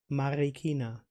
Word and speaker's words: Marikina: the cultural center of Marikina Marina you told me not to pronounce the r in the American way more in the German Swiss the harder Spanish way Marikina I can't roll the